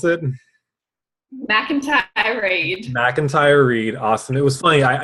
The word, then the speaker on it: McIntyre-Reid: we have Sonia uh Miami again how to pronounce it Mac and Kat outrage MacIntyre read awesome it was funny I your name was